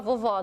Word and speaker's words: vovó: Todo mundo tem uma vovó, não tem, vovó? Então, olha, vovó. Um acento agudo na letrinha O para fazer esse som aberto do O.